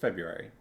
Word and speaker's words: February: And I don't really like everyone, like nobody pronounces the R, right? It's just February. February, right? But like I don't know. When I say it, I think of the R, and so I'm like, I need to say the R. The R is there. If it were a more traditionally silent letter, I feel like I wouldn't have that problem.